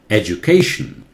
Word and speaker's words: education: educate this one right education before tion the syllable before tion always takes the primary stress the accent primary accent education okay this one he